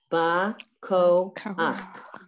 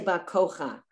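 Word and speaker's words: בַּכֹּחַ: Okay, so it's ba. Koach. See that? Koach. All right. You would never say Bakocha. When you see the het and you see a under it, the vowel is always pronounced first.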